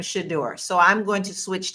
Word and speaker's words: Shedeur: Now, I'm noticing he is pronouncing his name Shador.